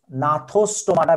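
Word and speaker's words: Gnathostomata: Some are with jaws, तो उसे नाथोस्टोमाटा भी कहते हैं। तो जॉ वाले नाथोस्टोमा, आपको ये वर्ड पता होगा, ये एन से प्रोनाउंसिएशन है।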